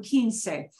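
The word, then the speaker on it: quince: Keane said 15 yeah it's like the king say 15 number we take that same Keen that you had from Keen say and we get and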